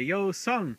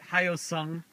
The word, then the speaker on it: Hyosung: what and i'd say yo son this is how you say it yo son yo son not Hyosung or hiyo silver the H is silent the H is apparently